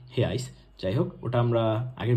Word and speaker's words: reais: বাট আমরা জানি কি যে ব্রাজিলের কারেন্সির নাম হচ্ছে হেয়াইস, যেটাকে ইংলিশে যদি আমরা লিখি হয় REAIS, বাট পর্তুগিজ ভাষায় কিন্তু উচ্চারণ হয় হেয়াইস।